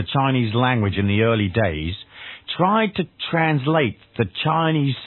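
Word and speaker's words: Tao: so in the end it's pronounced da and actually written t with a t so you've probably seen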